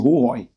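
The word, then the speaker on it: Hohoe: The correct pronunciation, Hohoi.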